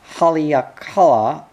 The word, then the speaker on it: Halakala: He pronounced his name something like Haleakala, as if they rather expected him to turn into a chanting Polynesian at any moment, and hoped he would.